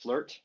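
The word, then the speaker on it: FLERT: level Earth realm with topology but it's it's pronounced flirt flirt nice well I'm a Flirt that's for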